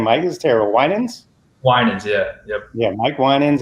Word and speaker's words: Winans: Winans, yeah.